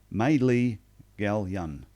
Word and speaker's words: Maelea Galyon: name it is though it is pronounced Madeley Gallion so if anyone's no